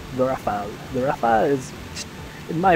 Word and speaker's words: Rafale: I should stop calling this thing the Raphael because it's the Rafale. I think that's how you pronounce it at least. It's just that I keep calling it the Raphael because when I was younger and I first played this game, I read it as Raphael, like the name, but it's not.